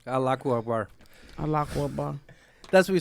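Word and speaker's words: الله أكبر: I pray I never do because Akhlaq bar, right? Is that how you say it? Akhlaq bar? Allahu Akbar.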